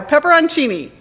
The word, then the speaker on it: peperoncini: little peppers you know what they are right peperoncini there we go peperoncini say it say with me pepper I'm tool